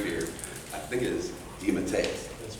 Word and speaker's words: DeMatteis: of names that I haven't been able to pronounce at all in about 30 years. It's a great fear. I think it is DeMatteis.